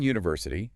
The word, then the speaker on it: university: and before mouth sound University starts with a consonant sound that Y sound so it should be